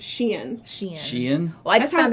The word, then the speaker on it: Shein: It's not Shine.